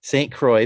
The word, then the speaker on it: Saint Croix: her and they formed now forgive me if i mispronounce this because i'm bad with x's and names saint croix paranormal is that right jill yes you said it perfectly all right so her